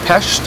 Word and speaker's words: Pest: Um it's pronunciation of Budapest. Um it's actually Pesh bit like the Dutch.